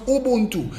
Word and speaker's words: Ubuntu: The word Ubuntu originates from one of the Bantu dialects of Africa and is pronounced Ubuntu.